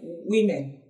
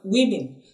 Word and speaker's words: women: We talked about women. Women. You don't say women. No, it's pronounced women. So it has a short sound, both at the we and the min. Women.